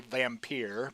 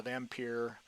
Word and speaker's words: Vampir: So, all right, next page we have Leonid, the I'm going to say vampir because it's spelled differently than vampire, but I guess it's still vampire.